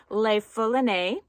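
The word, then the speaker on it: Le Foulonné: The Longchamp pouch I showed you yesterday, it's pronounced Le Foulonne, and Kevin at the Longchamp outlet in San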